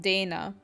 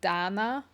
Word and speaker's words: Dana: sometimes or like um so my name in English you pronounce it Dana but that's not how you kind of pronounce my name um if you'd pronounce it the way that by family pronounces it it would be Danna so a lot of